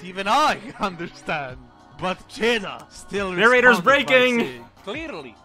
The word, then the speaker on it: Čeda: Čeda, like, kind of similar to the cheese, but don't say the R.